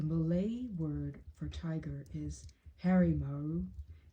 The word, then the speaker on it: harimau: The Malay word for tiger is harimau, usually pronounced rumau. To say harimaru, it makes it more formal, more important.